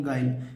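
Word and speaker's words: guile: बाद आई वायबल है तो जब भी कभी यू के बाद आई हो जाए तो क्या नहीं पढ़ना यू को नहीं पढ़ना यू को नहीं पढ़ना यू को नहीं पढ़ना है तो इसे पढ़ेंगे क्या यू को छिपा कर क्या पढ़ेंगे गाइल गाइल माने जो होता है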